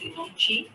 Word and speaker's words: Inochi: It's Inochi, like Inochi Care.